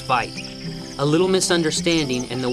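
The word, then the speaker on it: wyd: got their name from an Afrikaans word for why that's pronounced fight a little misunderstanding and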